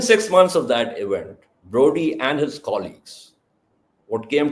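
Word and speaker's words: Brodie: So there's a big name in nuclear strategy Bernard Broady and since he was American perhaps Bernard Broady as the Americans pronounce it.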